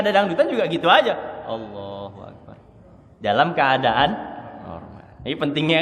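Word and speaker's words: الله أكبر: Yang poin D, dengan pengucapan huruf dan panjang pendek yang benar. Nah ini. Yang benar kayak gini saya contohin. Allahu Akbar. Saya ulang. Allahu Akbar.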